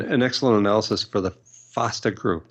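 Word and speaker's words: FEASTA: um and an excellent analysis for the Foster group that's f-e-a-s-t-a but pronounced faster and he points out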